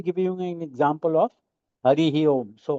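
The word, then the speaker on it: Hariḥ Om: And then how you pronounce now that? Not as Hari Om. You say like Hari.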